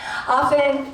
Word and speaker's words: often: i don't often often i think the t is silent often cover other poets but